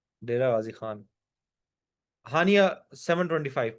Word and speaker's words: Haniya: हानिया wrong. अच्छा, then there is अ हनिया and then there is अ हानिया। ऐसे ही है। HANIA हनिया एंड HANIYA हानिया। That's how pronounce your name, right?